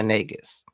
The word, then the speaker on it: Negus: a king called the negus. This king of abbiscinia in Islamic sources is referred to as the nagus. Don't hear that as anything else please. Nis rhymes with Las Vegas neg.